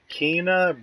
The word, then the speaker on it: Kena: But the next game that I'm pretty sure I want is called, how do you pronounce that? Kena, or Kana? Yeah, Kena Bridge of Spirits.